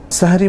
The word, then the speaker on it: সাহুর: সাহারি মধ্যরাতের পরে করলে কোন অসুবিধা নেই। তবে সাহারির ক্ষেত্রে যেটাকে আরবিতে সাহুর বলা হয় মূলত সাহার অথবা সাহুর। বাংলায় যদি আমরা সেহরি বলি শব্দটার আরবি উচ্চারণ হচ্ছে সাহুর।